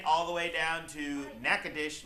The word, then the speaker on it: Natchitoches: the way down to Natchitoches Louisiana it is spelled Nacogdoches for those people just don't know how to talk earlier this week I